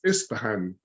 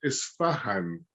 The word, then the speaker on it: Ispahan: Actually, one of the ones that I often hear pronounced incorrectly is Ispahan. I saw that recently on one of my friends' lists. That's an old rose, isn't it? Yes, damask, I think. And a lot of people call it Isfahan, and which I think is the name of the city in, is it Iran that Isfahan is in?